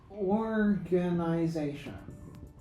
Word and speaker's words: organization: But in the word organization, the primary stress is on the last syllable. The secondary stress is on the first syllable. The tertiary stress is on this syllable, is on the third syllable. Sorry. Tertiary, this primary stress is on the fourth syllable.